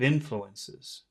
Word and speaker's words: influences: All the sound is on that in.